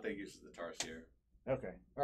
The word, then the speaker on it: Tarsier: It's not French. So it is Tarsier. Tarsier.